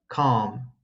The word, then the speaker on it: calm: makes it sound like calm instead of column. So listen carefully. The L is silent in the following words: half, Calm, palm, salmon, folk. yolk.